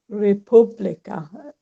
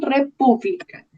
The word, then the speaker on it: república: Pienso es república, número 3. Muy bien, república. Con tilde en la eh, segunda sílaba.